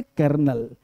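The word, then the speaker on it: colonel: क्या कांसेप्ट है कि लिखा है कोलोनल पढ़ेंगे कर्नल कोलोनल आपने कर्नल पूछा पोस्ट तो आर्मी में कर्नल भाई कर्नल पोस्ट है तो कर्नल कोलोनल कर्नल कोलोनल गलत है कोलोनल लिखेंगे स्पेलिंग याद करना है कोलेनल कोलेनल कोलेनल पढ़ेंगे कर्नल कर्नल कर्नल है ना जी अगला पॉइंट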